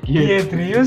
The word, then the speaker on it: Giedrius: Gimana bacanya? Giedrius Sivenas.